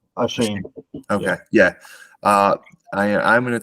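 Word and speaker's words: Achane: How do you pronounce that? Is it Ashani or Shane? Shane.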